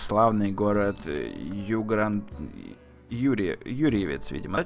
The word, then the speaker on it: Юрьевец: Я поехал в славный город Юрьевец, видимо, да, читается правильно.